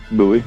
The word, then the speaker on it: Bowie: this rocky it is how do you say your last name bowie bowie oh okay just like it looks hey it's and